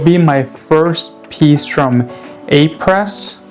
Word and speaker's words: A.Presse: Uh and it'll be my first piece from A Press. I'm pretty sure that's the American pronunciation.